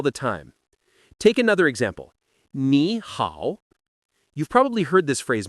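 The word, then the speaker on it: 你好: Another thing to remember is that when two third-tone syllables appear together, the first one often changes into a second tone in real speech. So, ni hao ends up sounding like ni hao.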